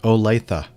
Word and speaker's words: Olathe: Olathe. And while I'm talking about pronunciation, now, if you haven't been listening for